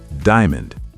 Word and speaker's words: diamond: Word number 9, diamond. Diamond. 3 syllables? No, 2 syllables. Diamond.